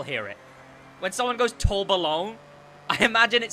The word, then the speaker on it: Tourbillon: Because I have to go French to pronounce it. I have to go Tourbillon. Because calling it the Tourbillon...